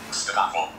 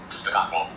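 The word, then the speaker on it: Zdravo: Stravo. Do it again. Stravo.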